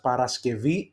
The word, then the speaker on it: Παρασκευή: let's take for example Παρασκευή, Friday. You see there is we pronounce it as Παρασκευή ev because it's a vowel after, it's an eta.